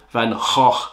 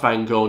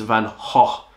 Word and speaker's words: Van Gogh: Van Gogh, actually, is how you pronounce his name. Not Van Gogh, not Van Gogh. It's Van Gogh with a H.